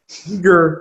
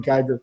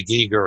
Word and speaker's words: Giger: And then, of course, Giger, who I always pronounce his name wrong as a kid, called him Geiger.